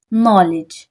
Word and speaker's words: knowledge: देख सकते हैं कि यहां पर डी भी है लेकिन उसको प्रोनाउंस नहीं किया मैंने क्यों नहीं किया क्योंकि यह साइलेंट लेटर है हमारे पास इधर